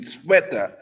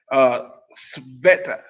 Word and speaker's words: Sveta: I know it's not pronounced. It's like Sweden, Sveta. Sveta.